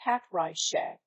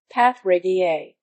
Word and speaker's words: Patrija: Instead of Patrija being pronounced as Patrisha, she would come up with something like Patrigia.